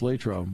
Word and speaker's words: Latrobe: where you are in Pennsylvania, you call it Latrobe, but when you get there, you have to, but when you're actually there, Latrobe. Right? Latrobe. Latrobe. It's Latrobe.